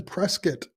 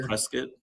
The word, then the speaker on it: Prescott: You say prescuit. Prescuit. That's how you pronounce it. Yeah. Yeah. Or Prescott. Prescott Washington, but we don't call it Prescat. It's Prescuit.